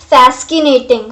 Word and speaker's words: fascinating: Means suppose करो spelling आपको आनी चाहिए, but सोचो कि c जो है वो silent है.